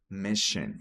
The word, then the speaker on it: mission: Perfectly with our mission. We say mission. Mission. Sim, esses dois S aqui tem um som de sh, tá? De sh.